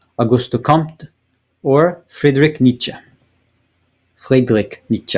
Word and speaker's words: Friedrich Nietzsche: Friedrich Nietzsche, if I want to say it properly, which I do, which I just did.